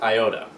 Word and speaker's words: iota: How this actually is in the Greek alphabet, it's pronounced iota, which, if anyone remembers, it's like I don't give an iota about that.